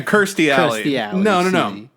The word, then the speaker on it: Kirsty: I was like, "Wait, that's not uh Christy Alley." Is that I said it right. No, no, no. Yeah. Kirsty Alley. I was like, "Wait, that's not Kirsty Alley."